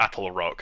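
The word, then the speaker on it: Attlerock: I basically say it wrong it's actually the Apple Rock I think I before I was calling it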